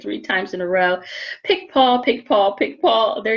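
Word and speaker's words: Picpoul: the grape as well pick paul and it's not the way you think it's spelled don't ask me to say it three times in a row pick paul pick paul pick paul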